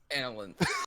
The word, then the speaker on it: Analanth: Analinth. Actually, that's alright. Sounds like absinthe.